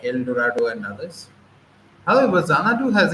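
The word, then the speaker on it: Xanadu: Dorado and others however zanadu has its own connotations look we write it with X but pronounce it with zed in between this X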